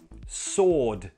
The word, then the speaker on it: sword: Not sword, sword. The W is silent.